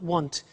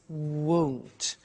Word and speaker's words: won't: Be careful with the pronunciation. It's not want, it's won't.